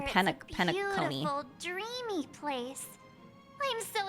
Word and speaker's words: Penacony: I've been pronouncing it wrong. Penacony.